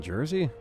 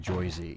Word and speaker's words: Jersey: Sometimes we get random rain, don't get me wrong, but no one in Jersey pronounces it Joyzy.